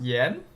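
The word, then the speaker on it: 炎: Oh, second sound. Thank you. Yen. Really? It's pronounced Yen.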